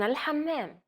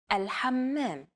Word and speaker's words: الحمام: One trick to produce this sound is to push your tongue as far back in your mouth as you can and then say the word hot. It should help you to pronounce this sound.